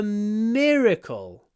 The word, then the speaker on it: miracle: one it's a miracle that she survived it's a miracle the got thing here is to pronounce the r properly mirle Don't Close Your Mouth to pronounce the r